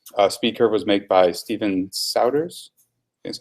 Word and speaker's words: Souders: SpeedCurve was made by Steven Souders. That's how you pronounce his last name.